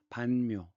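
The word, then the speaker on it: Văn Miếu: 우리 한자 발음은 문묘지만 공자를 모신 사당. 베트남에서 문묘의 베트남 발음은 반묘죠.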